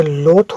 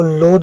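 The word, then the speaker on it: loath: था, रीत हुआ था, उसी तरह ये लोथ होगा, इसको लोद नहीं पढ़ेंगे, ये लोथ हो गया।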